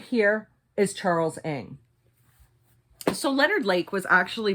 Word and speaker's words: Ng: His last name is spelled N-G. I've learned to pronounce it Ng. You guys might also know him as Charles Ning.